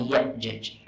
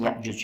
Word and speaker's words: Ya'jaj: Lebih tepat sebenarnya bifathil jim, dengan memfathahkan jim. Jadi bacanya Ya'jaj. Kalau di sini Ya'juj ya, terjemahannya Ya'juj. Ya, yang lebih tepat Ya'jaj.